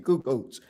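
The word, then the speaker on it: Kukoč: How you pronounce his name? Kukoc.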